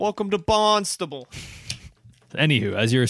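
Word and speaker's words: Barnstaple: like bournemouth right like we don't say mouth it's it's bournemouth you know those kind of those kind of words this is spelled barn stable i think it's called barnstable welcome to bonstable anywho as you were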